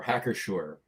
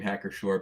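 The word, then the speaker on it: Hacker-Pschorr: I was going to say before hacker shore and I love I love the name hacker shore because the second name not hacker but shore because the p is silent.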